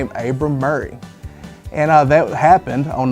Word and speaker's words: Maury: spelt Murray m u r r a y pronounced Murray so that's how we know the correct pronunciation is supposed to be Murray and not Mari so uh that puts the debate to rest